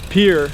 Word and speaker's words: Pierre: We got 3 more days to get to Pierre, is how people pronounce it.